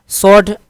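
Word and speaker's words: sword: सॉर्ड डब्ल्यू इसमें क्या है, खामोश है, तलवार को कहते हैं, ठीक है।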